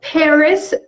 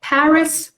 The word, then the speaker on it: Paris: بچه‌ها Paris تلفظش به صورت Paris کاملا درسته، ولی میشنوین از آمریکایی‌ها که بگن Paris، بیشتر به متمایل به تلفظش میکنن Paris.